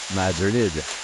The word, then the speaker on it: Madrid: gym of a town called Madrid pronounced Madrid by locals this enchanting place was